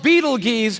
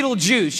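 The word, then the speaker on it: Betelgeuse: heard about this star it's called Beetle Gees or be Beetle Juice you can pick your pronunciation I'm obviously going with Beetle Juice and Beetle Juice is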